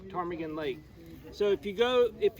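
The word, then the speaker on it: Ptarmigan Lake: is tarmagen lake and it's spelled p t a r m i g a n tarmigan lake so if you go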